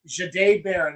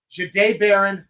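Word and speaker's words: Jahdae Barron: Not a single mock, not a single mock from anybody ever had Jade Baron, and that's how it is pronounced, by the way. It's Jade. Jade Baron falling to the Broncos and the Broncos selecting him.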